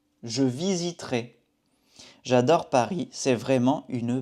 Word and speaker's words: visiterai: C'est comme pour le verbe acheter, pour visiterai, on ne prononce pas ce E. Je visiterai. Je visiterai.